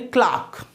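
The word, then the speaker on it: clerk: Okay, और मैं British English में क्या होंगे, क्लार्क, British pronunciation क्लार्क, American क्लर्क। तो मैं कहा LDC।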